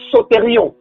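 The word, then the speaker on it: σωτήριον: Donc, le premier salut-là, et ce salut-là, en grec, on appelle ça sotérion. Sotérion, ça s'écrit S-O-T-E-R-I-O-N.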